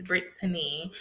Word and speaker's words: Britany: my name I'm like it's Britany and people like huh and I'm like it's Britany because the way that it's spelled Y and they're like oh okay and then some people be like girl your name is Britney and I'm like no it's different so I mean me